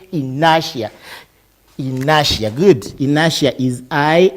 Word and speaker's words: inertia: pronouncing it has inertia it's not inertia that is inertia say in nasha nasha good inertia is